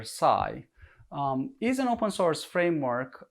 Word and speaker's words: psi: as backslash psi and pronounced like the greek letter psi is an open source